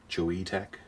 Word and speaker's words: Choetech: a QR code for getting free stuff from chewy tech that's how you pronounce it we have an instruction manual for